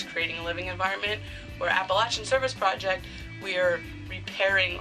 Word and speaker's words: Appalachian: Yes, Appalachian. I've been corrected too many times by people down in Appalachia that I will never again pronounce it any other way differently.